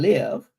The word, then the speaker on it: Lyve: Basically, my business is called Reclaim and Live, and live is spelled Lyve, and live stands for living your life victorious and empowered.